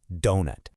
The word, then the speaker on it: doughnut: Those G and H letters you see in there, yeah, they're completely silent. The correct way to say it is simply donut.